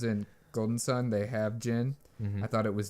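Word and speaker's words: djinn: longest time cuz in Golden Sun they have Jin I thought it was did Jin well of course that's how you would pronounce it in American I know especially if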